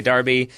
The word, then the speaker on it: derby: to a future like I personally would say Darby and I think if you look at the pronunciation it's not quite the aluminium aluminium where there's actually a different spelling if you look it up it will say like British Darby American derby yeah it spells it